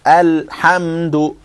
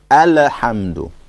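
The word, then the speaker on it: الحمد: So alhamdu. And the wrong way to say it is to say alhamdu. And this is true of any lam. Wherever you come across a lam with a sukoon on it, you don't bounce it.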